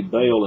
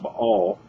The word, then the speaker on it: Baal: When you say Baal, or we say Baal in the South, but it's actually pronounced Baal.